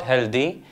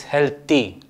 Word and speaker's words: healthy: pronounce it as phlegm the third word many people say has D but it's not healthy it's healthy healthy similarly it is not